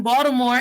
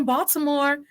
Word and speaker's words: Baltimore: first started teaching in baltimore and yes the t is pronounced as a d how can i come